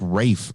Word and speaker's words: Rafe: It looks like Ralph, but everybody says it like Rafe or something. It's Rafe. Yeah, but it's spelled like Ralph. Yeah, well, my name is spelt like Scene, but it's pronounced Sean.